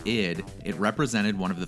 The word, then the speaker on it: id: And when shortened to ID, pronounced ID, it represented one of the three parts of the human psyche, the unconscious energy that drives our needs and ambition.